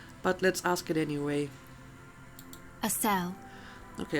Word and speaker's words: Acele: let's ask it anyway a cell okay apparently it's pronounced a cell some masculinity below that